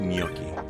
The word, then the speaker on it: gnocchi: if you're talking about the first thing that's pronounced gnocchi yeah i know that but like the name